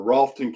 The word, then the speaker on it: Rutherford: past Cleveland County is Rutherford County or rolton county is how they pronounce it but that's where Chimney